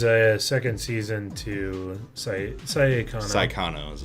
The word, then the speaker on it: Saekano: Well, you gotta make sure you get the pronunciation right. Saekano, because there is actually an anime that's shortened to Saekano. S-A-I. S-A-I rather than S-A-E.